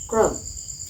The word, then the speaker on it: ক্রম: র ফলা যদি থাকে, অকারের পরে যদি র ফলা থাকে, এই যে র ফলা যদি থাকে, তাহলে অ এর উচ্চারণ ও এর মতো হবে। যেমন যেমন ধরো যে ক্রম, কয় র ফলা ম, ক্রম, ক্রম দেওয়া আছে, উচ্চারণের